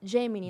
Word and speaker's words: Gemini: Google que é a Gemini né E aí tem várias formas de pronunciar também né Depende mas a gente tá no Brasil é G vamos nessa que é g e m i n i essa ferramenta ela é